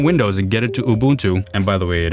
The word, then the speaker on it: Ubuntu: Now, I'm going to shut down Windows and get it to Ubuntu. And by the way, it is pronounced Ubuntu. That's the right way. Not Ubuntu, not Ubuntu, it's Ubuntu.